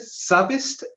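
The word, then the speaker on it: SZABIST: of campus at uh how do you pronounce it savist s z a b s savist University Islamabad campus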